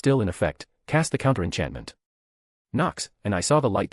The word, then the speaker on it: Nox: The pronunciation is NKSss, and your wand movement is a wave, he demonstrated. I then, with the Lumos spell in effect, cast the counter-enchantment. Knox, and I saw the